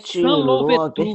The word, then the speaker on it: Toussaint Louverture: Então, lê-se É Toussaint Toussaint Louverture. Louverture. Pode juntar aí os dois. E o O e o 1 pronuncia uma sílaba só. Toussaint Louverture.